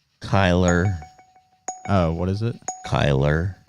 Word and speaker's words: Kyler: Kyler Murray is not a... Did I not spell that right? What the hell? Where's fucking Kyle Murray? Kyler. Oh, what is it? Kyler, not Kyle.